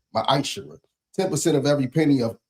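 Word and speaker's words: ma'aser: verse chapter 3 8-10 means 10th in Hebrew and it's pronounced misher 10% of every penny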